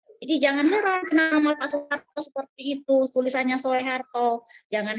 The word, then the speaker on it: Soeharto: Soeharto, Bapak Soeharto ya, tapi tulisannya Soeharto. Kalau ditanya kenapa tulisannya seperti itu, tapi dibacanya tetap Su, tulisannya Soe, dibacanya Su, karena itu ejaan lama.